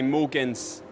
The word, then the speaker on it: Mogens: People here often say Mogens because the G is silent, but I can live with that.